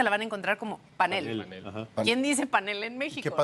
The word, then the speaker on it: panel: mismo con la palabra panel. Ok. ¿Qué tipo de palabra es panel? ¿Cómo la pronunciamos en México? Panel. Panel. Sí, como grave. Como grave que termine en L.